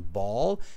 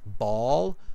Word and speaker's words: ball: many cultures to pronounce, the difference between ball and bull. Even little kids in Canada, they often mispronounce the two words together. So ball, bull, okay?